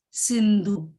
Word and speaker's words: Sindhu: Indus is the name of the river, and in Hindi it is pronounced as Sindhu.